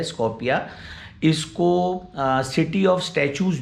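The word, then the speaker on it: Скопје: उनकी capital city है, उसको वो लोग प्रोनाउंस करते हैं स्कोपिया।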